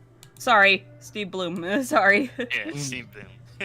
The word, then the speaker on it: Blum: his name is pronounced Bloom sorry Steve Bloom sorry it's spelled Blum but it's pronounced Bloom yeah thank you Sal